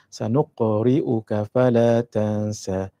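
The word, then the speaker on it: سَنُقْرِئُكَ فَلَا تَنسَىٰ: kepala sanuqriuka Fala Tansa illa masya-allah tapi cara bacanya sanuqriuka Fala Tansa sanuqriuka Fala Tansa sanuqriuka Fala Tansa sanuqriuka Fala Tansa sanuqriuka Fala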